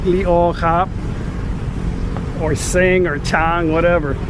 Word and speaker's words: Chang: kap, or sing or chang, whatever. It's not chang. It's spelt chang. In Thai language, Chang beer is actually named after the elephant. In Thai language, elephant is chang. Chang, not chang.